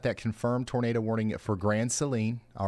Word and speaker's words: Grand Saline: Multiple folks are saying Grand Saline, Texas is pronounced Grand Seline.